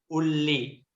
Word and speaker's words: uli: We just pronounce it with double L, uli.